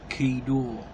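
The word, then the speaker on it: חידה: And the word riddle in Hebrew is pronounced key-door. Key-door.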